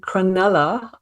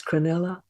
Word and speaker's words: Cronulla: finished hlc2 down in cronulla uh if I've printed I'm always pulled up for how I pronounce words and places for me it's crinnella um so I've just